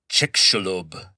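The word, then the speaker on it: Chicxulub: And they call this impact site the chickalob impact crater. And chickalob is spelled ch i c x u lub. It's a Mayan term, not a Spanish word.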